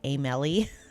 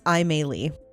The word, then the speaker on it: Aimee: I was probably going to say Amelie, but it's Aimee.